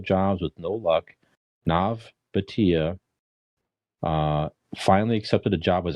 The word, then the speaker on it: Bhatia: India friends, Nav Bhatia, Bhatia. I was trying to find the correct pronunciation, so I hope I'm close.